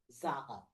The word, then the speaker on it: zahăr: Sugar, zahar.